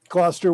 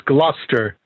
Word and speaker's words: Gloucester: it's not gloucester it's gloucester the u is the u is not pronounced i'm just nitpicking yeah